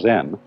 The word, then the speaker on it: Zen: this experience is dominant Zen of course is a Japanese word and uh it's spelled Zen and that is the Japanese way of pronouncing the Chinese word chan and this in turn